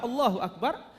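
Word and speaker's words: الله أكبر: Akbar, Allahu Akbar. Ini biasanya 2 harokat saja.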